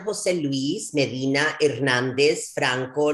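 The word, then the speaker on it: José Luis Medina Hernández Franco: Jose Luis Medina Hernandez Franco Jr.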